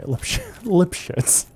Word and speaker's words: Lipschitz: Lipshites. I don't remember this character. I am saying it right. Okay, Lipshits.